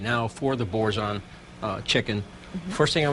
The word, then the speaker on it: Boursin: today which is very exciting it's chicken with bouron cheese sauce and Italian cinnamon Walnut coffee cake am I pronouncing the cheese correctly yes you are wonderful